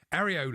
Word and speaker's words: Areola: Areola I was thinking rhymes with Guardiola.